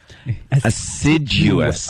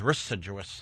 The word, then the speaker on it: assiduous: when are we saying word yet to pronounce ever letter assiduous. I thought it was ris-siduous.